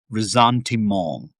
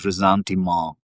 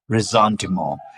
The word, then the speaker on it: ressentiment: Uh, but it's pronounced rzantimo. It's very different from resentment.